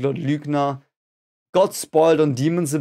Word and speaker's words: Lügner: It's pronounced Lügner. Now we've got the last of the weird fly shit things. It's a U. The fly shits above it. It's called Ü.